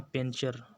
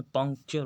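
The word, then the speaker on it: puncture: अब सामने penetrate पंक्चर हम लोग भोजपुरी में अक्षर बोलते पंचर साइकिल पंचर हो लेकिन उन्हें पंक्चर होता है पंक्चर की स्पेलिंग देख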